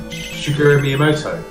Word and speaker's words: Shigeru Miyamoto: Shigeru Miyamoto. Shigeru Miyamoto. Your pronunciation sounds right. Mine definitely isn't, and I kind of know that.